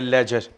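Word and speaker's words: ledger: एल ईडी जीई आर इसमें D silent है लेजर अभी पता चलेगा आगे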